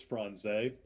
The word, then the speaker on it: Franze: It's the pronunciation of his name is Chris Franze.